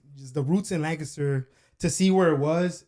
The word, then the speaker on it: Lancaster: first of all, you say Lancaster, which is not the correct way to say it. Lancaster. Lancaster. Think about a guy named Lang and he kissed her.